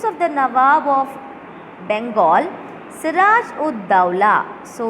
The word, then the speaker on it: Siraj ud Dawla: So we have to pronounce this name as Siraj ud Dawla. Okay. Siraj. You have to give a small hyphen. Ud, ud. Okay. Then small hyphen. Daula. Dawla. Siraj ud Dawla held 146 British